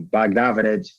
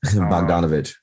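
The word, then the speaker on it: Bogdanović: that much money um baghdad i might i just said the whole name wrong bogdanovic yeah why do i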